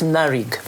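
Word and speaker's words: NARIGP: inclusive project so it's naric you you never the the p is silent okay so this is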